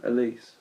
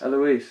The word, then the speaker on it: Eloise: when I bumped into Elise. I keep saying her name wrong. Is it? Eloise. Eloise, yeah, Eloise.